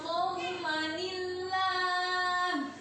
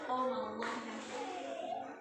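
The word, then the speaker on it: قومًا الله: Wa in qalat ummatum minhum lima ta'iduna qaumanillah. Qaumanillah bukan qaumallah.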